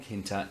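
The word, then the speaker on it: tkinter: go from Kinta and you'll notice there's a spit a silent T in there from kinter import all ok and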